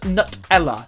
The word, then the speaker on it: Nutella: I pronounce it wrong look it's got nuts in it it's pronounced Nutella Nutella Nutella how you